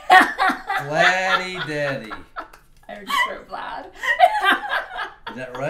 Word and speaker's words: Vladdy Daddy: It rhymes with dad. Vladdy Daddy. Vladdy Daddy.